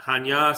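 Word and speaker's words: Chania: area of Hanya and Hanya spelled in English is c-h-a-n-i-a-hanya but it's pronounced and it's a beautiful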